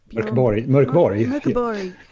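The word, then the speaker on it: Mörk Borg: It's going to be as bad as trying to say Mörkborg. Mörkborg. There we go. So whilst I'm getting schooled on pronunciations, we've got a new face who's joining us this week.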